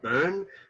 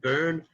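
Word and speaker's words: Bön: but with the own the o has the umlaut the two dots on top of it so it's like a like a boon sound i think is how you say it burn almost like burn but like like you're messing it up but um again some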